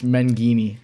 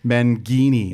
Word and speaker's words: Menghini: of the games and said, have they been pronouncing it wrong on TV? 'Cause my parents have told me. Yeah, it's Menghini. Menghini.